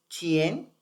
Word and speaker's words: Chien: Y por ejemplo, para que les dejemos puestos los nombres de los trigramas de energía yang, el primero que tú marcas es Chien, así se pronuncia. Chien, Ajá.